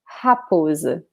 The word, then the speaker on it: raposa: But remember that the R in the beginning of a word in Portuguese is pronounced like an H in the beginning of a word, like house, house, rosa, raposa, okay?